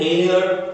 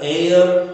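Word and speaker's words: heir: एन एयर, एच ई आई आर, एयर, एयर का मतलब होता है वारिस या उत्तराधिकारी, इसकी आवाज भी ए से शुरू है इसलिए इसके साथ एन लगा।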